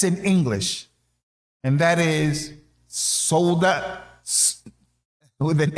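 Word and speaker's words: Sawda: he mentioned her name, I called her Soda. That's how I pronounced it. I said, the sheikh, he mentioned that the wife of the Prophet sallallahu alaihi wasallam, Soda. And he said, not Soda, it's Soda. Soda means black.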